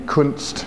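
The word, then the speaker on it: Kundt: the kunst tube and that's a word you got to be very careful when you pronounce it it was a tube that was first invented in the late 1800s by a German physicist by the name kunst that's u n DT and what it consists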